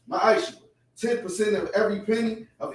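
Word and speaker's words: מעשר: It means 10th in Hebrew, and it's pronounced ma'aishu.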